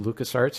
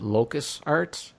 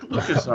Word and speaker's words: LucasArts: But yeah, so By the way, Ryan, I really enjoyed how you mispronounced LucasArts and you called it Locus Arts.